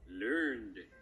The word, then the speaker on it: learned: so learning learned son it's pronounced learned i love you papa